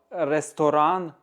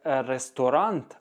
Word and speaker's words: Restaurant: вимовляє невірно у слова ресторан у німецькій мові зовсім інша вимова ми його не як ресторант а рестора через ніс кінець слова вимовляємо зрозумів ресторан Слухай с